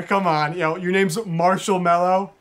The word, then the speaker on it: Marshall: Mark Mark you know my name's Marshall Marshall yeah spell that m a r s h a l l that's crazy I've literally